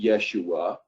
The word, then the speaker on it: Yeshua: and of course Jesus' name was really Joshua, or as maybe properly pronounced Yeshua.